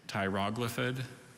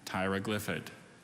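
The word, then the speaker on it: tyroglyphid: there any alternate pronunciations there's two pronunciations tyroglithid and tyrogliffid can you repeat all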